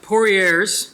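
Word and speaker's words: Poirier's: this next one is uh pouriers is how you say it he's a he's a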